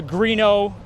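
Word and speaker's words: Grignon: Adam Greeno had the Greeno Industries, who is our main builder. His name is spelled different, Grgnon, which is pronounced Greeno.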